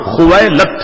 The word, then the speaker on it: خویلد: تھا۔ والد کا نام خویلد تھا۔ یاد رکھیے گا بعض لوگوں کو یہ پڑھنے میں دشواری ہوتی ہے، مگر میں نے اس کا آسان سا تلفظ بتا دیا، خویلد۔ یہ حضرت خدیجہ الکبریٰ